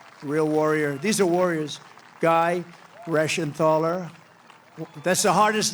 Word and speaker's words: Guy Reschenthaler: Guy Reschenthaler. That's the hardest name in the Senate to pronounce, but I've learned how to pronounce it.